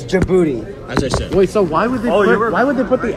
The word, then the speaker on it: Djibouti: million people in this booty what are you talking about the Internet is just I don't think that's how you pronounce it it's Djibouti I gotta look up